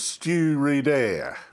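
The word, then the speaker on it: Stiùireadair: one at pronouncing Scottish I pronounce it as stew redair and it means Helms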